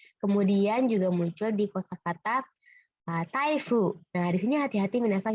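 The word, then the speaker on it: 台風: Kemudian juga muncul di kosakata taifu. Nah, di sini hati-hati minasang, ini kan bacanya dai. Ini dai juga, tidak ada masalah mungkin untuk ingatnya. Nah, di sini dia bukan daifu minasang, tapi taifu.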